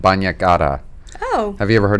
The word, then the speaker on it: bagna cauda: Bagna, it's like a bath. Yeah, yes. Yeah, bagna cauda.